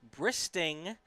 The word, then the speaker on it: Bristing: wanna want to apologize apparently i mispronounced the name yesterday it is bristing steve bristing stephen bristing